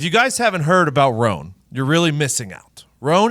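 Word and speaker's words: Rhone: to get it out there right away okay it's spelled rh o NE okay this guy's smart if you guys haven't heard about roan you're really missing out roan is a men's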